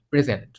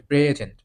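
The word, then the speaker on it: present: পরের উদাহরণগুলো দেখব যেমন নাউন নাউনের আছে কি প্রেজেন্ট প্রেজেন্ট প্রেজেন্ট এখানে প্রে এটাকে জোর দিয়ে উচ্চারণ করা হচ্ছে প্রেজেন্ট প্রেজেন্ট মানে হচ্ছে উপহার আবার যখন প্রেজেন্ট পরেরটুকুকে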